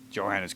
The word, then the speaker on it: Johannes Kepler: camera obscura way before johannes kepler's time you know they call him johann what is that he's german the j was not pronounced that way i still call him johannes i don't care did